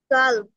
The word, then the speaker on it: calm: Calm. So, কাম না, এই যে এল উচ্চারণ হবে না, এল বাতে।